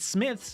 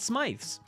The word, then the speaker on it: Smith's: Smith's, not Smythe's. As us Americans may think, but it's Smith's.